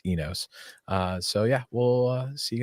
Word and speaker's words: Inos: And next week we talk to Mercedes about Easter Jeep Safari and Inos. Actually, it's pronounced Enos.